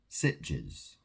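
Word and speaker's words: Sitges: So we went to a little city called Sitches. is spelled s i t g e ss and it's a very um it's a very homosexual uh place in Spain.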